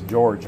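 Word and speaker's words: Jorge: George Chuck that's job George in Spanish the J is silent it comes off as H I can guarantee you in America as George ain't silence awesome Oh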